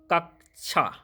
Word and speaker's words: कक्षा: question number 16 है कक्षा शब्द का शुद्ध उच्चारण है इसका शुद्ध उच्चारण होगा कक्षा क्वेश्चन नंबर 17 है